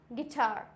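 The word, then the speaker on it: guitar: For example गाइल, गाइल्ड, गिल्ट, गिटार, गार्ड, biscuit. इसमें क्या है? आई है तो साइलेंट हो गया, ए है तो भी साइलेंट हो गया, आई है तो भी साइलेंट हो गया, क्योंकि ये सारे वॉयल्स हैं।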